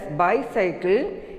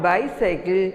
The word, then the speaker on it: bicycle: Next, B-I-C-Y-C-L-E. We pronounce this as bicycle. It is not bicycle, it is bicycle.